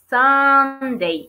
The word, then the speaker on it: Sunday: Y el último día de la semana, Sunday, como sunny, Sunday.